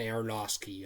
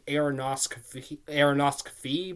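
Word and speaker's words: Aronofsky: his name right now I used to call him ainos aosi because there's an F in it but I think the f is silent so aeroski but Darren arosi yeah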